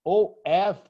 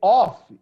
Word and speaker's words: of: Observe that OF, the possessive, the pronunciation is V, of. All of. If you say off, is OFF, like turn on, turn off.